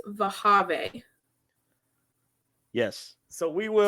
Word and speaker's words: Wehiwa: I think it's Vahave. Yes. So we will. So if you take his name, it's Wehiwa. Replace both W's with V's. So it's Vehiva.